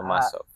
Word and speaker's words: Lomasov: So I just want to introduce Semyon Lomasov. I pronounced it right? Yes, Uh, Lomasov.